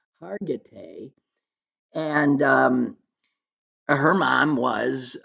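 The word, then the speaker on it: Hargitay: the actress Marishka uh Hagerty. Hagerty is what I always said, but then in the documentary I realized I've been mispronouncing her name, Hargatee.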